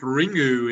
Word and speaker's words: Ringu: i saw that one it's pronounced ringu in japan if you do uh